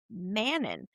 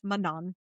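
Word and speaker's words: Manon: knew the one character I knew her as Mannon because that's how I've heard so many people pronounce her and then I heard Sarah say it and it's Mongan and I was like well that was completely wrong all this time.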